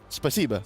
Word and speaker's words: Спасибо: Spasiba.